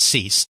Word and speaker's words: Seuss: Seuss, you'll notice that it is spelled the same as Seuss and Dr. Seuss, but he does actually pronounce it Cease.